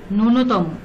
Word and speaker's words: ন্যূনতম: উচ্চারণ হয় না, যেমন ন্যূনতম, এখানে ন্যূনতম বানানে জফলা আছে কিন্তু উচ্চারণে কোনো জফলা উচ্চারিত হয়নি, এটা প্রকাশ পায়নি, দুতি, দোতনা, গুহ প্রভৃতি।